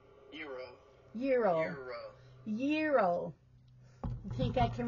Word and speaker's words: gyro: I always say it wrong, so I always say gyro or gyro. So let's see how it's really pronounced. Euro.